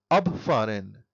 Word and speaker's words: abfahren: For example, abfahren. Here the stress is on ab, which indicates that it is a separable verb.